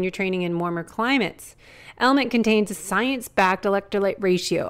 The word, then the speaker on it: LMNT: It's spelled LMNT, but pronounced Element.